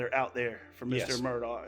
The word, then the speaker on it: Murdaugh: there for Mr Murdoch I think he calls himself murder I heard it today but I'm not sure how they how how they pronounce it down there in the low state I'm from Myrtle Beach I pronounce it like